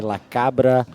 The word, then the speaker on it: La Cabra: If I were to say it in like a South American way, I'd be say La Cabra Brewing. Okay. I'm guessing. La Cabra.